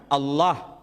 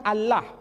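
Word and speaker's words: الله: masyarakat Timur Tengah ketika menjumpai istilah alif lam lam ha dibaca Allah Tetapi mereka serempak menyebutnya dengan pronunciation Allah menyebut dengan sebutan Allah Allah ini tidak dikonstruksi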